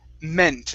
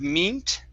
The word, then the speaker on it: meant: sounds good okay um this word here is pronounced meant instead of meet okay it's a short e sound meant okay very good uh